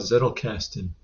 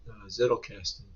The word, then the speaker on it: Zettelkasten: uh to start with let's talk about zetel casting it's spelled z ttel k a s t n I believe uh there's a lot of talk on YouTube about zle casting many YouTube videos uh